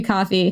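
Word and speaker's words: Ko-fi: It's spelled Kofi, but I guess it's supposed to be coffee.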